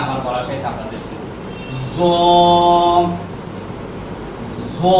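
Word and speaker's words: ظ: জ জ, এটি উচ্চারণের স্থান হচ্ছে জিহ্বার আগা সামনের উপরে দুই দাঁতের আগার সঙ্গে লাগাইয়া একটু মোটা আওয়াজ দিয়ে বলতে হবে, আওয়াজটা একটু নরম হবে।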